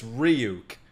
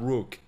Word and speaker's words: Ryuk: his name all right so it's ryuk it's not rook why did i say